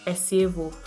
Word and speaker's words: Esievo: Esievo.